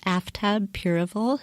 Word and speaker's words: Aftab Pureval: Hey everyone, this is Kelly with Two Broads Talking Politics, and I'm here in this segment with Aftab Pureval, who is the Hamilton County Clerk of Courts in Ohio and is running for the 1st Congressional District.